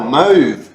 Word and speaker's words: mauve: How do you spell that? M-O? M-A-U-V-E. Oh, mauve.